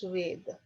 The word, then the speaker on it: Veda: maheshwara guru oh we often use the word or veda okay actual pronunciation is veda veda that means knowledge knowledge